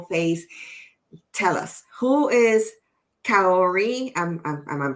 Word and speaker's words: Kaory: seen your beautiful face tell us who is Ki I'm I'm pronouncing your name correctly yes K Ki KI who's who was Ki growing